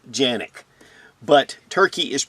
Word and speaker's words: Canik: the sfx Rival s for this review the Canik sfx rival s yes in Turkey Canik is pronounced Yannick but turkey is pronounced turkey in Turkey as